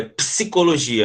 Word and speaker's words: psicologia: Esse psi, esse P aqui, ele é mudo, é psicologia, ele não é psicologia.